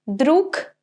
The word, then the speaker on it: друг: Right, друг, because g is at the end of the word, the sound will be of its pair, so k.